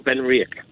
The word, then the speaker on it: Benriach: want to drink something more unique like our been rick i'm glad i pronounced it correctly i was waiting for you